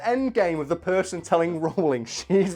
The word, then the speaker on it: Rowling: what was the endgame was the person telling rollin she's wrong about how to pronounce her own name and they got our miss Raleigh actually no it's rollin but it's a common problem we just address